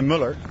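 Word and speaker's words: Muller: I say Mueller, but I'm Dutch. Well, I'm going to say Mueller then.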